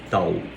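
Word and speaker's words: ταῦ: Eles também tm o T igual o T do português, só que eles falam tal. O som é o mesmo. Não é o T de teta C, é o T grave, igual do português mesmo.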